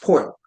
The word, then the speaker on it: Pearl: Pearl, but it's pronounced Poyle.